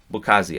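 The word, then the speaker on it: Mbokazi: Beckazelli Bukazi. I'm just going to leave the M off of it because his name is spelled with an MB at the front.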